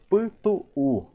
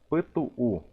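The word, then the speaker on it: pytu'u: Agora vamos ver a outra palavra que temos aqui ao lado, que diz Putu-u. Aqui temos que pronunciar, querendo ou não, a letra U.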